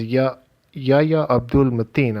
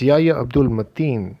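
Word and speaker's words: Yahya Abdul-Mateen: didn't expect which is yah-yah-yah Abdulle Mateen I'm sorry if I got that name wrong it's Yaya Abdul Mattia who portrays Black Manta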